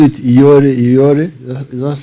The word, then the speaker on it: Yoweri: You know, with the bush people, you know, you call it Yoweri. Is that how you say it? Yes, Yoweri.